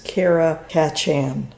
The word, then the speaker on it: Karakachan: they're also called and I always mispronounce it, but it's it's Karakachan is the, you know, the name for it, but they're Bulgarian Shepherds.